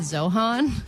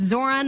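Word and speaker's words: Zohran: And I saw who won and I read the name wrong. I thought I said Zohan. Mhm. I was like, "Oh my god, don't mess with the Zohan. He won. That's crazy." But it's Zoran Mabdani and he is the first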